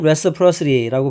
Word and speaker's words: reciprocity: 여기는 이거는 reciprocity라고 발음합니다. reciprocity. 자, R가 re도 되고 re도 되는데 이때는 re라고 발음하시는 게 좋아요.